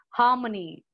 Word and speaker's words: harmony: Harmony. Repeat after me, all of you. Harmony. R is silent there. Harmony.